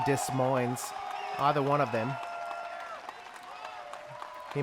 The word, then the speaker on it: Des Moines: macbeth good job paul i don't know why that guy didn't pronounce the s in dis mines either one of them